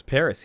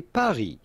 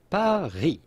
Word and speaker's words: Paris: Know that the S at Paris in French is silent, as is often the case with the last letter of a word in French. So the French would say Paris, Paris, Paris.